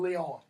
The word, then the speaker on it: Lyon: But in the first one, we're introduced to Merriman Lyon, or Merriman Leon, if you want to pronounce his last name that way.